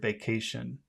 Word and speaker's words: vacation: because of the word vacation. Where's the Yes. accented syllable on the word vacation? Vacation. Cation. K, CATI. K, Cation. K, K, Cation. Cation. Can you say that? Cation. Cation, Cation, Vacation. vacation, Vacation.